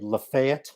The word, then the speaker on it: Lafayette: and lo and behold i looked on the lafayette that's how you say it from north florida